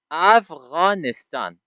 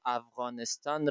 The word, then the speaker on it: افغانستان: گفتنش را تمرین بکنید افغانستان اما آنها قادر نیستند تا افغانستان را درست تلفظ بکنن افغانستان آنها صدای غ در شیوه تلفظشان نداره بسیار سخت است بر آنها تا تلفظش بکنه افغانستانها همیشه افغانستان میگه